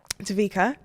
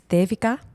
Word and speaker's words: Devika: But the actual Indian pronunciation of my name is Devika.